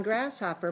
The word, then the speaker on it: grasshopper: you did very well on grasshopper putting the stress on the first syllable but there were other